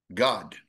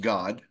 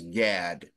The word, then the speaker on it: Gad: may say it as Gad g a d but it's not pronounced as Gad it's pronounced God okay now if you